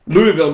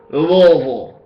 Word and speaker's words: Louisville: and in exchange for that kindness, he got to get the name of Louisville named after him, okay?